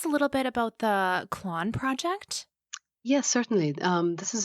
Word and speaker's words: Clann: And it's important to let your listeners know of this initiative, because this group called Clon, which is spelled CLANN, they're assisting anyone who